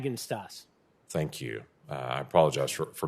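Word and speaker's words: Bagenstos: Is it Bagininstos? Pronounce it for me so I get it right. Bagenstas.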